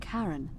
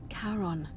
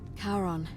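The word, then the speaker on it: Charon: is a little off the name you heard wasn't Karen h-a-r-o-n as in Caron the ferryman of the Dead karon who in exchange for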